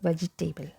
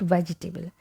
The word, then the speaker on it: vegetable: it silent V and letter A has a sound like we have in about okay so it is